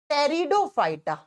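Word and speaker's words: Pteridophyta: Number 2 पे आता है ब्रायोफाइटा, और नंबर 3 पे आता है टेरिडोफाइटा। लिखा जाता है पी से, प्रोनाउंस किया जाता है टी से, टेरिडोफाइटा।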